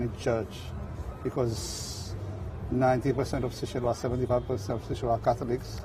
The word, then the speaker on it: Seychelles: In Creole, it's Seychelles.